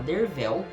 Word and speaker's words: Derfel: A gente acompanha o Dervel, que se escreve Derfel, mas se fala Dervel.